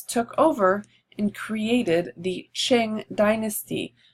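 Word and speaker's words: Qing: over and created the Ching dynasty q is pronounced ch here so that it's not Q it's check so the Ching dynasty in 1644 and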